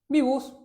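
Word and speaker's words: VBUS: Esto de acá se pronuncia, le decimos bibus, así este nombre acá.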